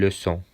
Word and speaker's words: leçon: Örneğin leçon, ders, leçon.